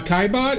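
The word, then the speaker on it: Caillebotte: How do I pronounce that name? Uh, Kaibot, it's C A I L E B O T.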